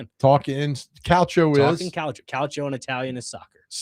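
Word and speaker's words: calcio: Calo and Italian is soccer. Spell that. C A L CIO. That's it. Yeah. I thought it was like couch o. No. No. That's the pronunciation.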